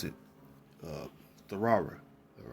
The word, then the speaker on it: Torah: the real actual pillow hebrew uh how you pronounce it uh therara all right not torah right there's no o in the hebrew for